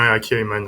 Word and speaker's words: Aki Ayman: Est-ce que je le prononce bien, M. Aki Ayman, c'est ça? Oui, c'est bien Aki Ayman, Richard.